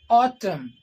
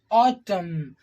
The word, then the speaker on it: autumn: these words okay we are not saying ottoman autumn autumn is that buzzing sound it is just becoming